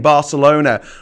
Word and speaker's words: Barcelona: well that's good well I'm going to continue saying Barcelona without the th in it because it's a c it's a C I'm